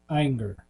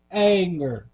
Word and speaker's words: Ayinger: think it's pronoun pronounced anger maybe what you which one did you say ier ier I think it's more like anger like like hey yo they're not